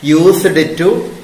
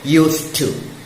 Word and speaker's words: used to: Don't pronounce it used to. D is silent in used to. So, used to.